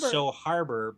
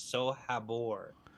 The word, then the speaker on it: So Habor: oh yeah oh it's the soul Harbor it's not Harbor the audiobooks pronounce it so Harbor but it's not Harbor it's so Habor that's funny all right